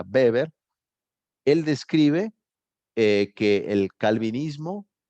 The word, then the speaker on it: Weber: Weber, se escribe Weber, pero se pronuncia Weber.